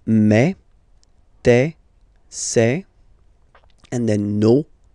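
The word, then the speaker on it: mes: Okay, so for the phonetical or pronunciation aspect of it, then remember that this es here combined will give you the sound e. Okay, so you'll pronounce it like me.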